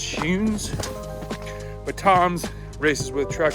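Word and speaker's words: Skujiņš: I thought it was Scunes, but then I looked on his IG and it's Schunes.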